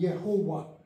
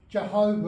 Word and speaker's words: Jehovah: to be that cuz there are three syllables you go the Chev okay the column and the command to your vows they are in between the letters so it's why e h o v a h you've got three syllables you can't say Yahweh because you've just missed out a whole syllable you can't do it it's got to be